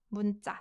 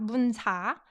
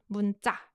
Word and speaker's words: 문자: This is pronounced 문자, not 문사, 문자.